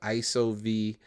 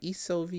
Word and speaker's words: ISOV: And of course, the pronunciation of ISO was a little tricky at first. people were like Isov or I I ov and and then that's why I started doing the drop. So if you ever see any of my products, you usually at the end see uh a voice that says buy isov.